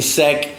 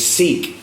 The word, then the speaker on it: Seec: queens get the money please stop mispronouncing my name stop saying sec cease it's seek you know i don't